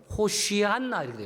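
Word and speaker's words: הושענא: 아시지요 왜 그분이 하나님이시니까이 호산나 아는 단어는 그 히브리 반 발음대로 원대로 하면 호시안나이 호시안나 예어 어 호 쉬한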